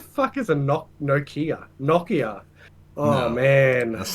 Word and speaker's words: Nokia: quick uh what were you playing snake on noia noia what is that what the is a no noia Nokia oh man that's not how you say it